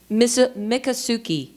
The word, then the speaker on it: Miccosukee: Seminole and, I hope I get this right, Miccosukee. So how do you pronounce it? Miccosukee.